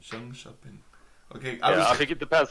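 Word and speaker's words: Jönköping: My Swedish accent would say Jonkoping. So. But it's weird that you say sh instead of k.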